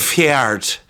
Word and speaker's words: Ffeart: Fjart. Like heart. Spelled like heart, but with 2 F's.